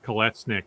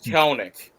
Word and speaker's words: Kelenic: I'm just grateful the Mets made the trade the year before where they traded away Jared Kolesnik, or I'm maybe mispronouncing. Yeah, Jared Kelenic.